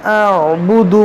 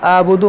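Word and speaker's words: أعبد: देखिए यहाँ मैंने क्या कहा, देखिए यहाँ पर भी बाज़ लोग गलत पढ़ते हैं। इसको पढ़ते हैं ला आबुदु मा तअबुदून, आइन को हज़फ कर देते हैं अक्सर लोग।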